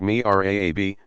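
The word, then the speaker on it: mihrab: designs like that of the mirabe pronounced me rab nich and somewhere in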